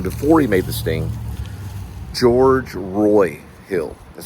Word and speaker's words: George Roy Hill: George Roy Hill is how they say his name.